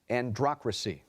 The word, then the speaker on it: androcracy: loves all food samil our next word is androcracy political and social supremacy of men androcracy was